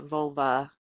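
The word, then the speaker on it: völva: Um the I believe it's uh vulva is how it's um it's v o lva.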